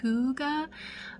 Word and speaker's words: hygge: So there's a term, it's called Hyggge, and I think it's actually pronounced hygge, but it is a Swedish term for like comfort in the wintertime.